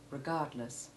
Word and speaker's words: regardless: l e double s the unstressed ending of regardless has the short e2 iv sound and the stressed ending of nevertheless has short e1 as does the equally strongly stressed first syllable in contrast the short e3 in the first syllable of regardless though not as completely devoid of stress as the last syllable is relatively unstressed compared with the second syllable listen to these words